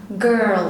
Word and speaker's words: girl: هننطقها hard sound، هننطقها ج ج girl.